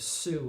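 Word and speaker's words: Suh: The documentary is called The House of Sue, and it's spelled S-U-H.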